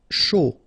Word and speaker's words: chaud: Chaud, final D not pronounced, and then when you combine this C and H, you get the SH sound, A and U, O, chaud.